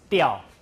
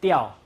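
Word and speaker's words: 鳥: In Hakka, we pronounce diao. Can you pronounce it? Diao. Diao, yeah, diao. You can see the consonant is here, back at the onset, and the I is a glide included in the rhyme, and this one, coda, vowel, nucleus.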